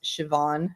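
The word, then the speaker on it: Siobhan: i o b h an right but it's pronounced Shian yeah right right anyway so um so I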